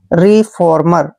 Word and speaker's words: रिफॉर्मर: आर का उच्चारण हमने रे करना है, ई को ई की मात्रा पढ़ते हैं। एफ का उच्चारण फे करते हैं, ओ को ओ की मात्रा पढ़ना है, आर को रे पढ़ते हैं और MER का उच्चारण मैं और रे करते हैं। रिफॉर्मर, ऐसे रिफॉर्मर।